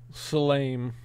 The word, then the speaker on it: salame: When the E is at the end of an Italian word, it's E. It has a long sound.